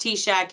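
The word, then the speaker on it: TSAHC: affordable housing Corporation TS it's pronounced t-shack even though don't all the teachers on here don't give me that look but that's how it's pronounced and with that program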